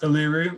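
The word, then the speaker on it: Uluru: one the tri yeah exactly number two it's pronounced aluru or previously known as a ASRock but it's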